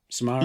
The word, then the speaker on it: Samara: How do you pronounce her ready or first not, name? Samara.